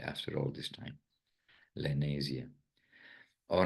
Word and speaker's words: Lenasia: South that is the I never knew the proper pronunciation but lenia it seems to be something like Malaysia but n lania South SAA of